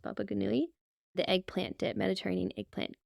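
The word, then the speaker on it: Baba ghanoush: how to pronounce this my family always pronounces it Baba G but I'm pretty sure it's pronounced bagui the eggplant dip Mediterranean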